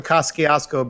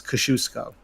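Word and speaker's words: Kościuszko: I can't but uh they were saying on the news how to say it it's Kosciusko I remember like somebody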